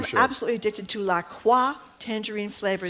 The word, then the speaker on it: LaCroix: La Croix. What is it? How do you say it? Tangerine. LaCroix? No, it isn't. LaCroix. Is that true? LaCroix rhymes with enjoy.